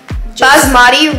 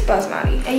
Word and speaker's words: basmati: butter chicken with um jasmati rice I think I'm sorry if I mispronounced anything I think it's Basmati yeah basmati rice and then we also